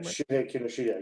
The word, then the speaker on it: Shuhei Kinoshita: Now, of course, the other aspect of the movie is his name Shuhei Kinoshita. Am I pronouncing his name right? Shuhei Kinoshita, yes.